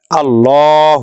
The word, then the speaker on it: الله: উদাহরণ দেখি এখানে দেখেন আলিফ লাম লাম হা আল্লাহ এখানে আমরা এই লামের খাড়া জবরটিকে যখন জবর